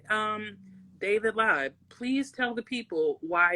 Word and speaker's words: Lyve: instead of an i david live is spelled with a y instead of an i live your life with a y you don't live it with an i um so it's pronounced live but you know it's